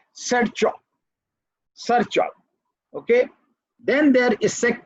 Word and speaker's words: Sharchop: I am very sorry that I can't give you exact pronunciation, but I pronounce it as Sarchop.